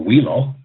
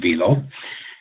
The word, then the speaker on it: Velo: It's a Velo circulating pump, and I don't know how many times I've heard people across the country go Wheelo, but it's pronounced Velo.